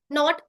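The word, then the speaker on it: knot: याद रखना है कि जब भी के के बाद क्या आएगा के के बाद अगर एन आएगा तो के का उच्चारण नहीं होगा ठीक है अभी हम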